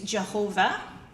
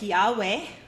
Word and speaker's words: Yahweh: So basically over time the original pronunciation of YHWH was lost if it was ever truly known in the first place. Latin translators of the Old Testament use Jehovah. Today's linguists suggest it was something more like Yahweh, but we don't know for sure how it's pronounced.